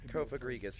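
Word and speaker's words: Cofagrigus: Kofagriggas is the right way.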